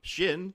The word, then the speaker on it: Shin: Shin, like part of your leg, shin bone, and Hati, like Hati.